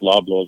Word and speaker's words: Loblaws: They said they were grabbing it from their local Whole Foods out there, and I believe Loblaws also, Chris, if I'm not mistaken. Yep. Did I pronounce that right? Yep.